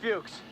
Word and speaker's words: Fuchs: Blair, have you seen Fuchs? Fuchs. Sorry, I was saying his name wrong.